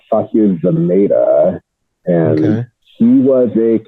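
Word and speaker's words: Sasheer Zamata: Her mom is Sashir Zamata, which I don't recognize that name. I know who that is. I think it's pronounced Sasha Zameda, and Okay.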